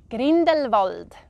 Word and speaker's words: Grindelwald: So this one I would pronounce Grindelwald.